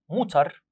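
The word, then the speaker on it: Mutter: ماذر الام بنقول موتر.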